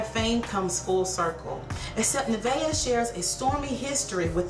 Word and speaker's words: Nevaeh: It says, Nevaeh, which is how you pronounce her name, Nevaeh Simon has achieved success beyond anything the Houston native could have imagined.